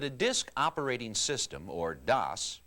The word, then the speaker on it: DOS: Before you boot up, I think you should know that a disk operating system, or DOS, pronounced like TOS, is like an office manager who